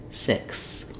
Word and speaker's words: six: s s six um if you have trouble with pronouncing six because it has that consonant cluster that's a typical error pattern here you might want to try just saying it with the k sound first sick then add your your s six I do also have